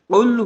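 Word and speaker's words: قل: কুল এবং কুল এই দুইটাকে যদি আমরা শুদ্ধভাবে উচ্চারণ করতে না পারি, তাহলে মারাত্মক ভুল হয়ে যাচ্ছে। খেয়াল করুন, কুল হু আল্লাহু আহাদ, এই আয়াতের অর্থ হলো, হে রাসূল আপনি বলুন তিনি আল্লাহ একক।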